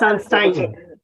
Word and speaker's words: Sunstein: तो सनस्टाइन हमें, जब हमने सनस्टीन, कैसे प्रोनाउंसिएट करते हैं इसको अनुराग जी? पता नहीं, ये तो मैं It's Sunstein.